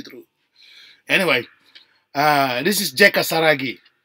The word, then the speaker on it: Saragih: Anyway, this is JEKA Saragih. It's actually because we're using a Dutch pronunciation, so we actually his name's. If you put them to English, Saragih.